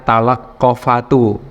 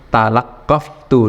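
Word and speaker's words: تلقّفتُ: Maka kemudian tidak dibaca talaqqafatu, tapi talaqqaftu disukun.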